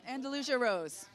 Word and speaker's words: Andalusia Rose: We got Wendy from Andalusia Rose. Is that how you say it? Andalusia Rose.